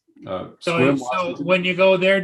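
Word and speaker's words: Sequim: We're staying in that little town, Squim. Oh yeah. Is that how it's pronounced? it's Spelled Squim. differently than it's pronounced. So Squim, Washington.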